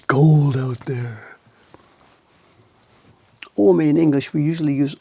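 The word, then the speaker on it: 青梅: Ome in English, we usually use O-M-E. The O is a U. It's O-U-O-me. O-U-M-O-U-me. It's 3 syllables in Japanese.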